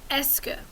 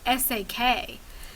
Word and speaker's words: est-ce que: Now, a lot of students, when they see it written, will mispronounce it, something like S-A-K. But remember that this is the S and this is the que. Est-ce que.